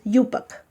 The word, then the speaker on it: IUPAC: IUPAC se pronuncia, pero es IUPAC.